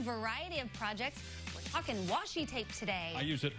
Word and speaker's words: washi: Heather assures me I was pronouncing that correct. It's washi tape?